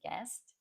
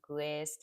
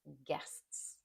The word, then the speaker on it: guest: Be careful with your pronunciation of guest. It's not guest or something like that. The U is silent. It's guests.